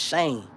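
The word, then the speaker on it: Cian: Hey, I think you said Cyan is pronounced Shane.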